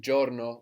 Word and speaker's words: giorno: of good and then Giorno which is de spelled GI all are and all so sometimes the I in Italian won't be heard that clearly like here we don't